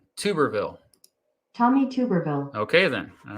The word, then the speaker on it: Tuberville: be embarrassing embarrassing tommy cooperville it's two tuberville like a tuba tuberville tommy tuberville okay then